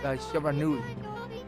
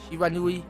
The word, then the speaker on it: Shiranui: Maybe you're the reincarnation of the white wolf, Shiranui. Okay, is it Shiranui? Okay, I did mispronounce that, my bad.